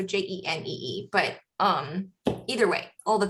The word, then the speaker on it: Jenée: And that's spelled like Renee, but with a J, so Jenee.